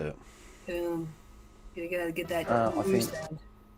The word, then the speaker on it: Köln: Köln! Köln. That's how you say it. Köln.